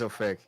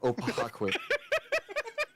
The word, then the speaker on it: Oake: This is the first time I've The worst mispronunciation I've heard of my name is of like opakqu someone actually attempted to pronounce that that way.